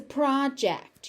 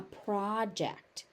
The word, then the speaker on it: project: Prior prior prior professional professional professional this word has two forms noun and verb and it follows pattern one. So the stress moves depending on how it is being used in the sentence.